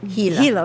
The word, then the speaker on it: Gila: Gila. Oh, River. Gila. Okay, Gila River. Oh. And Well, then it's spelled with a G, but there was Gotcha.